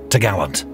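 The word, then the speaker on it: topgallant: Then the cross trees, which secured the top gallant mast, pronounced t'gallant.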